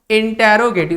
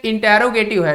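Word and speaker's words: interrogative: जिसे हम कहते हैं इंटेरोगेटिव सेंटेंस इसे हम कहते हैं इंटेरोगेटिव सेंटेंस देखिए इसका जो प्रोनाउंस है इंटेरोगेटिव बहुत सारे बच्चे इसको इंट्रोगेटिव बोलते हैं देखिए इसका देखिए ना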